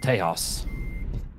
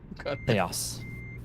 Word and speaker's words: Tejas: And Texas is pronounced Tejas. Tejas.